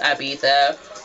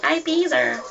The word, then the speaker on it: Ibiza: Yeah, the one I went to Coachella with, she really wants to go to Ibiza. Or as you Americans say it, Ibiza.